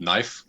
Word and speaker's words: Nyf: right now which is called knife which is spelled nyf um for more like an english uh i guess um spelling for the word but um people people